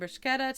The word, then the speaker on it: bruschetta: You get a K in there somehow. I don't know.